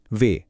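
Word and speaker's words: wie: আর যখন আই আগে আর ই পরে আসে মানে আই ই তখন এর উচ্চারণ হয় লম্বা ই এর মতো। যেমন ভি গেটস বা কেমন আছেন? এই বাক্যের প্রথম শব্দটা।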